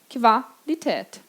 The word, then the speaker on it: Qualität: Por exemplo, Qualität. Lembra dessa palavra também do ditado? Qualidade, Qualität. No tät, eu tenho o A-Umlaut. Exatamente esse som de é. Qualität.